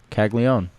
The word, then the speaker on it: Caglianone: Yeah, The first N is silent. Caglione.